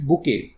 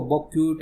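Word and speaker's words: bouquet: तो यहाँ पे पिक्ड आउट है, उसने चुना प्रीटीएस्ट बुके। प्रीटीएस्ट होता है सबसे सुंदर दिखने वाला, और ये जो स्पेलिंग है इसको बॉक्यूट ऐसे नहीं पढ़ते, इसको बुके पढ़ते हैं, ठीक है।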